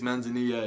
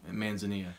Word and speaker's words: manzanilla: The second type is manzanilla, or manzanilla. I think it's manzanilla is like the correct way in Spanish to pronounce it.